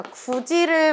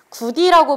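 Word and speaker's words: 굳이: 뭐 예를 들면 우리 친구들 이해하기 쉽게, 자, 구지를 우리가 발음할 때 구디라고 발음을 안 하고, 자, 디귿과 이가 만났죠.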